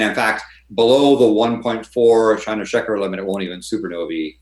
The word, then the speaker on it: Chandrasekhar: But is it Shandeskar? Is that how you pronounce it? Shandeskar? Chandrasekhar. Yeah, Chandrasekhar.